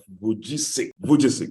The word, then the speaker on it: Vujicic: I have a hard time pronouncing his name. Pastor Vesichu, somebody help me out, please. Pastor Nicholas Vujicic, yeah.